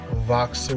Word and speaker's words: Voxer: use the app boxer voxer with the v it's spelled like boxer but instead of a b there's the letter v like vixen voice you know those things